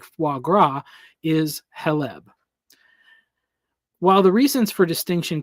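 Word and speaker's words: חֵלֶב: oil of the olive, as opposed to the heleb fat of animals, which is pronounced as halab, which is pronounced as halab, is also used for the fat of milk and the whiteness of milk.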